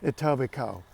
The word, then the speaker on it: Etobicoke: an independent city called Etobicoke yes that's right the KE is silent you see you see